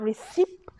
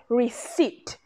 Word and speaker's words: receipt: Next one, even though it has a P there, it's not receipt. It is receipt. The P is silent, yeah?